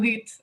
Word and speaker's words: hit: Just for the pronunciation between to eat and to hit. I don't know. Frapper et manger. I Oh. don't know. Oh, it's easy. About hit with a H, we really pronounce the H, right?